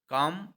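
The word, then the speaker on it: calm: अर्थात शांत हो जाइए काम इसका पर्यायवाची है काम के स्पेलिंग जरा ध्यान देंगे सी ए एल एम यहां पर एल क्या है साइलेंट है तो का का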